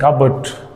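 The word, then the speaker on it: cupboard: और वो है कबर्ड। वेंसडे, वेंसडे, जनरली इसको वेडनेसडे बोलते हैं लोग, लेकिन इसका जो करेक्ट प्रोनाउंसिएशन है वो है वेंसडे।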